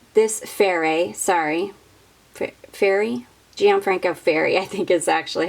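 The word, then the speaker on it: Ferré: Next, we have got Gianfranco Fair. This is Blooming Rose. This Fairy, sorry, Fairy? Gianfranco Fairy, I think is actually how you say it.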